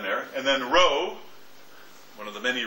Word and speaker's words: rho: okay that's the little n there and then Row one of the many rows that populat St statistical literature this is not to be confused with the auto regression Row in fact it started life as R the